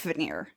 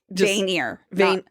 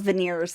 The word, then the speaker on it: Vanir: Vanir. Not veneers like teeth. Oh. Vanir. Just found my word for the season I'm going to struggle with. Finally have a character name that I can pronounce. Yay! Vanir. Vanir. At least that's how it's pronounced on the audiobook.